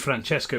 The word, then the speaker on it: Francesco: But I mentioned Franchesco, which is the original pronunciation of of his sort of canonized saint name. And this woman goes, "Um, Francisco."